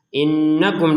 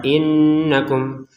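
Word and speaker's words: إِنَّكُمْ: Nah, innakum di sini nun bertasydid didengungkan dua harakat. Innakum. Jangan sekedar innakum. Innakum.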